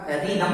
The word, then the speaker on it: rhythm: और फिर रिदम है RHYTHM, R के बाद है H, तो यहाँ H साइलेंट होगा, रिदम होगा।